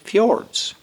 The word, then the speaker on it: fjord: made up of 14 fjords now what is a fjord not a ford a fjord because there's